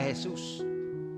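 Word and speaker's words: Jesús: Hesus ang pangalan niya sa Spanish. Jesus sa sa English ano. So yun yung pronunciation nila Hesus.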